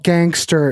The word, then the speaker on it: Ganxter: This band's called Gangster, and I dig the way this is spelled. Ganxter.